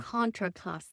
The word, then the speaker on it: Contra Costa: this is um and Costa Contra area and Contra Costa Contraosta thank you I always get that wrong Contraosta but these vines